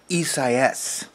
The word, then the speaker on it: Isaias: sure what it is it's isaias yeah esa s i-s-i-a-s e-cis is the spanish form of the biblical name isaiah isaiah was a hebrew